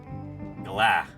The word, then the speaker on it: galah: stuff Galas okay so the emphasis is on the second syllable Galah and apparently sometimes they